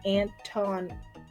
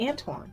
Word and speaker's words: Antoine: and my friends all my friends that say antwon's name is Anton and Tony but I say pronounce it's pronounced Antoine could you please print this and tell me who's right your devoted fan Curtis Bernard congratulations Curtis you're absolutely right your friends owe you the biggest ice-cream somebody can get so there's Antoine's cannon pronunciation there he is he's